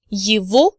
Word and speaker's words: его: Now you remember from supplementary materials from previous lectures that G in the word его is actually pronounced as V.